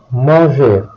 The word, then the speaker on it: manger: Verbs ending with the letters ER have a silent R. Aimer, manger, tuer.